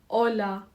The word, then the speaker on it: hola: The H is silent. We don't say it like we do in English. Say it with me. Ola again. Ola. Smooth open vowels. O like open and a like apple.